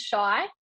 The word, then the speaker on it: Chey: this controversy right now it kind of is shy like most people do call me shy for two years for